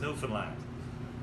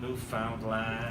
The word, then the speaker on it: Newfoundland: Now, a scuff is a dance, and a blue star is also a beer, and it's pronounced Newfoundland. Not Newfoundland or Newfoundland.